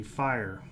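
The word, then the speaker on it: FHIR: second one second definition is going to be fire and that's the way it's pronounced it's the fast healthcare interoperability resources specification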